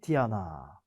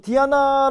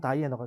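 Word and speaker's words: Diana: 숲 사냥 달의 여신 디아나 뭐 디아나 아고 발음하지만 우리가 왜 서양 이름 중에 많이 쓰는 이름 중에 다이너라이브 발음하면 다이너가 되는 거고 라틴어 원래 발음대로 하면 디아나가 되는 거고 어 아르테미스는 이름도 있죠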